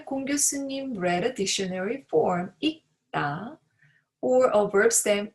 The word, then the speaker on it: 읽다: In case of 리을 and 기역 받침, 기역 should be heard as a 받침 when it comes next to 다.